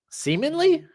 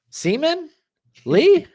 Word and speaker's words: seemingly: You pronounce that word very weirdly. Seemingly? Yeah. Seaman? Lee? I'm like, you didn't put the G in there, homie.